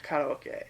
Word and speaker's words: karaoke: Like, if I say karaoke, nobody knows what I mean. But if you say karaoke, they do. Oh, yeah. So, yeah. That's how they pronounce it in Japanese, it's karaoke.